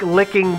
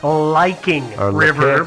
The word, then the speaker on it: Licking River: It looks like licking, but it's probably Liking River.